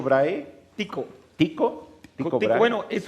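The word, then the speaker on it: Tycho: ¿Cómo se pronuncia? ¿Chicho Brahe? Tico.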